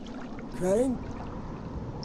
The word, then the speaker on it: Crane: Crane? Crane rhymes with train and brain and sane and grain and rain and plane and the other kind of plane and...